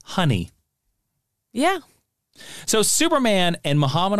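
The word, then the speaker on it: Hun'ya: behemoth known as now it's spelled h-u-n apostrophe y which i'm going to call honey yeah so superman and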